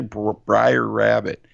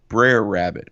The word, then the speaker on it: Brer Rabbit: says daddy who's that how do you say briar rabbit no baby girl that's Brer Rabbit who's Brer Rabbit well